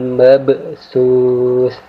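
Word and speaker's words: الْمَبْثُوث: Cara membacanya saya ulangi, huruf ba sukun di sini kita baca dengan cara memantul tapi dengan pantulan tipis, yaitu kita baca ba sukun di sini dengan cara menekan kemudian sedikit memantul. Jadi cara membacanya mabsus, ya.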